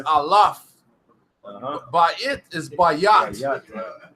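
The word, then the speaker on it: אלף: So it says Aleph. Yeah. It's Alaf.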